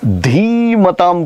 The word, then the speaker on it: धीमताम: धीमताम का अर्थ होता है इंटेलिजेंट, ज्ञानवान, बुद्धिशाली। कुले भवति धीमताम, धी की मात्रा बड़ी वाली दीर्घ है।